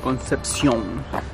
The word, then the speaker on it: Concepción: Concepción.